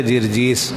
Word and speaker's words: جرجیس: ہے جی، جرجیس نہیں، جرجیس، جرجیس، اس کا صحیح تلفظ ہے جرجیس۔ اس کا لقب کیا تھا؟